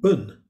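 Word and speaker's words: Bön: n and it's pronounced the p is pronounced like a b and the o the umlaut gives it a sound of almost a u so it's pronounced bun and the bun religion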